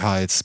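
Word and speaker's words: Heights: hier oft Hees genannt also oder he wird ausgesprochen mit E aber geschrieben h e i g h t s also Pacific hes Presidio he und so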